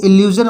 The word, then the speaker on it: illusion: इसी तरह से इल्यूजन, ILLUSION, इल्यूजन इसको पढ़ते हैं तो एस, देखिए SION के पहले यू आया है, यहाँ वोवेल है तो इल्यूजन बोलेंगे।